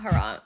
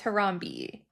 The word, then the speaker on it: Harambe: No, it's not Harambe. It's Harambe.